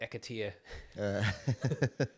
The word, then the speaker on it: Akitio: And there's a beach called Akitio. I think is the right pronunciation in Maori. I say I think because the neighbours call it Akatia. No, not the neighbours, the locals. You know, they're like, oh, you're going to Akatia?